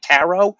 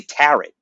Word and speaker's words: tarot: I pronouncing it right it's tarot cards right tarrow because I've heard people say tet but that sounds wrong that does sound wrong I